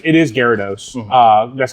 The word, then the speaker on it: Gyarados: people pronounce other ways that I I don't pronounce that way, but um I think my biggest uh problem is is Gyarados. Gyarados.